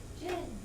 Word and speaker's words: gin: Gin, Jill, dry.